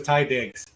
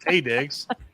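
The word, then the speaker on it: Taye Diggs: It was Yeah, Ty, yes, you go to Google, it's going to tell you it was Ty Diggs. Tay Very Diggs, first of all. true. God damn it. Tay Diggs.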